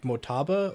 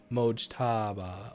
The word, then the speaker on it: Mojtaba: Is the J pronounced, or is it like Motaba, or is it Mojtaba? Mojtaba.